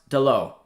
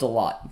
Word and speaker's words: Dalot: i got a protection it's pronounced delo is it really delo okay i'll take your word for it oc let me know if i'm pronouncing it correctly delo i thought it was a lot but i mean that's